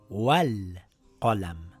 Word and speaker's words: وَٱلْقَلَم: When we are reading these two words together, we have to drop the Hamzatul Wasl. It now reads Wal Qalam.